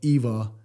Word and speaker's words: IWA: top five firearms of IWA 2024. Germans use, say, V. For W, Germans actually pronounce it like a V, like the way we say V. So I call it IWA.